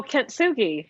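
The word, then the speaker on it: kintsugi: about um the i don't know how to pronounce it is it k-i-n-t-s-u-g-i oh kentsugi yes yeah yes yeah can you can you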